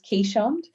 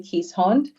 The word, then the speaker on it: Keeshond: She's the Australian way of pronouncing it is Keeshond, but the more European way is actually Keeshond.